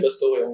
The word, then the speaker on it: Pastore: Enfin, du coup, voilà, c'est une question de nord ou sud, voilà, spécialement. Mais toi, tu le dirais comment? Moi, je dis Pastoré.